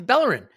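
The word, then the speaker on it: Bellerín: why why you saying it like that it's bellerin it's K kazora well it's not it's clearly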